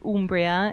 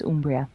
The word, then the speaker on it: Umbria: And so the U is always an U in Italian, and so it's Umbria. But we accept Umbria as well.